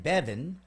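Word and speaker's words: Bébhinn: Bebhinn, Bevan. So clearly, son, why would I think BH pronounced V?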